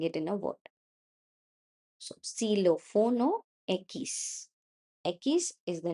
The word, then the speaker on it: xilófono: So, silófono equis. Equis is the name of the letter. Silófono is how I'm going to pronounce it in a word.